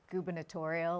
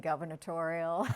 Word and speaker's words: gubernatorial: Oh, nervous, and I think I mispronounced gubernatorial. I kept saying governatorial.